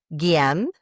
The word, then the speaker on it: Guillaume: I think Guillaume.